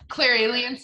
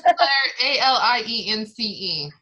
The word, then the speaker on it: clairalience: I think it's Clairalience. That's how I say it. I know it sounds like alien, but Clairalience is just how I've always pronounced it.